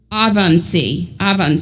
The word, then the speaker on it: Ebensee: And then one of them died in, and I might say it wrong, Ebensee, but I think it's pronounced differently than that. Let me see. I might have written down how to pronounce it. Avansee, and somebody in when